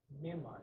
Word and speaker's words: Myanmar: Myanmar, yeah. Joe knows. Joe's a better pronunciator.